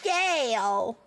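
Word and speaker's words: gaol: Apparently, Gale is not pronounced Gale. It's pronounced jail.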